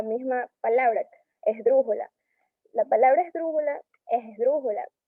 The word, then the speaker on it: esdrújula: La palabra esdrújula es esdrújula. Al separar en 4 sílabas, está en la antepenúltima su acentación y por lo tanto es así.